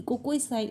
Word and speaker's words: cake: ए का इसके अलावा जब भी लास्ट में अगर ई आ रहा है तो हम उसको साउंड नहीं देते यानी ई साइलेंट होता है तो हम यहां पर इ को कोई कोई भी साउंड नहीं देंगे सिर्फ रीड किया जाएगा क ए क केक इसके अलावा म ए